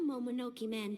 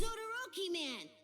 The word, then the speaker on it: Odoroki Man: I think it's kind of funny she keeps pronouncing it wrong, but... No, I told you. It's Odoroki Man.